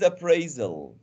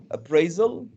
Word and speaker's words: appraisal: the new word is appraisal the stress is in the sec i'm the teacher i'm teaching the new word is appraisal the stress is on the second syllable okay repeat after me